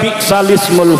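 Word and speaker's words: بئس الاسم: Dibacanya harusnya kalau lagi baca Quran sholat bi'salismu, tulisannya bi'sal ismu, tetapi karena di situ ada hamzahnya, hamzah wasal ismu, maka hamzahnya, harkatnya dipindah kepada harkat yang sebelumnya yaitu lam.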